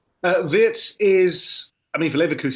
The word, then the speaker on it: Wirtz: How versatile is Viet to pronounce it correctly? Uh Vitz is I mean for Liverus he's always been